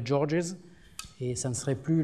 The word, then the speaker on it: Georges: on met un S, mais le S est muet en français, ce qui ne pose pas de problème, alors qu'en anglais, il serait prononcé, ça deviendrait Georges, et ça ne serait plus le...